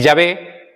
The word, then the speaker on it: Yahvé: Y Yahvé, que sería nuestra pronunciación más acertada, ¿vale? Lingüísticamente, fonéticamente, semánticamente, como queráis llamarlo, Yahvé seguramente sea más apropiado que Jehová.